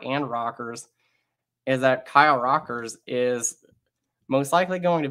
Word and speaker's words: Rockers: That's pronounced Rockers? Yes, that is actually pronounced Rockers. That's good.